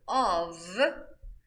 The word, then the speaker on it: of: I say off. While the word of with one F, I say it of.